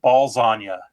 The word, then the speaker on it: Ballsania: They were called Ballsania, spelled like lasagna, but balls. Oh, clever. They had matching jerseys. They had socks that said Ballsania.